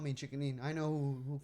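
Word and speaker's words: Chiki Lean: It spells CHIKI Like LEAN. Like cheeky, and then lean, like lean.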